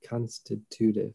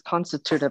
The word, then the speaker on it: constitutive: nice word too yeah i pronounced it wrong i think i think it's constitutive well i just had it pronounced on my phone yeah it says constitutive i don't know right